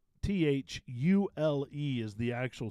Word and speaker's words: Thule: and stuff so it's Thule huh th -u-l-e Tooley Thule and it goes right along with the other rack company that has the mispronounced name Yakima jicama or Yakima yeah yeah